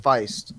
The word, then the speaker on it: Feist: I believe it's pronounced Feist. I'm not sure. Feist, exactly. It looks like Feast. Yeah, but I'm pretty sure it's Feist.